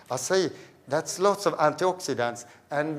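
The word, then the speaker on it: açaí: we also sell what we call acai as I say or acai or shy it's often pronounced I say that's lots of antioxidants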